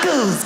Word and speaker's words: knuckles: Of all the letters, why would a K BE SILENT? KICKERS. WHY IS it knuckles?